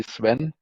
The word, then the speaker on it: Sven: uh my name is Sven you can simply call me Swen um I know it's very difficult to pronounce GS uh but Swen is more and sufficient.